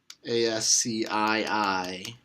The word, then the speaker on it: ASCII: a standard translation of bits to characters called ASCI i which is pronounced ascii and that's just a giant table